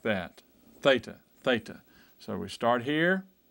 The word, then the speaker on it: theta: both of them are thetas and they're pronounced with a th sound so write that out